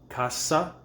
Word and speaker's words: cassa: Uomo, casa, cassa. Notice the double S because you pronounce every letter, vowel or consonant.